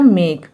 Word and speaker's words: make: म में हम ए की मात्रा लगाएंगे, फिर के लिए क लिखेंगे, और लास्ट में ई है इसलिए ये ई साइलेंट होगा, तो ये होगा मेक, इसे हम मेक पढ़ेंगे।